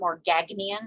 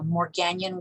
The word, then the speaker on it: Morgagnian: These are Morganian globules. That second G is silent. It's not Morgagnian, it's Morganian. So Morganian globules.